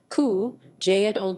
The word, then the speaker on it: Cúige Uladh: from the irish language qiuije lad pronounced ku jaedol jia meaning fifth of